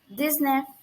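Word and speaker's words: dix-neuf: or number of next number is 19 19 this knife this name this okay it is also like 17 and 18 10 plus nine it is this neff this knife this plus enough this now this enough okay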